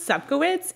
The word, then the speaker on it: Seitz: pronounce your last name so it is pronounced Seitz it's so polish yeah I love it